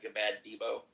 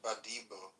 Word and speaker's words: Badibo: And welcome back, Gabad Debo. Sorry if I mispronounced your name there. Well, I did definitely mispronounce your name the first time. This is Badibo.